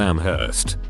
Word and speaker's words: Amherst: angry with me for pronouncing the h in amherst once i said sorry english